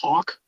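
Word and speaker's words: Haack: they bring in matt heck i believe is how you say his name who had 68. sorry sorry so i think it's pronounced hawk man talk all over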